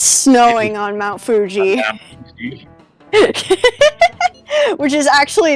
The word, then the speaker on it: Fuji: Yeah, Fuji is 2 syllables.